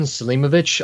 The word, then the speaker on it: Selimović: be what's your name my name is Salima vich I also go by the nickname jail and NY is how you spell it what's the connection with the last name